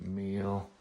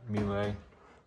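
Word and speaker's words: Miele: We've got meal. I think I just mispronounced that. Mealy.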